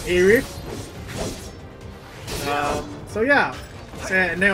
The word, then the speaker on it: Aerith: I always call her by with the TH, so Aerith.